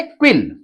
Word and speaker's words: quill: अब यहां पे देखिएगा, ये है क्विल। अब यहां पर क्यू का फोनिक साउंड आधा क और व, ठीक है। यू साइलेंट रहेगा, यू के जस्ट बाद यहां पर